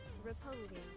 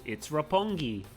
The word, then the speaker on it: Roppongi: Roppongi. Okay, so it is hard G. I thought so, but for some reason it feels like it should be Roppongi, but it's Roppongi.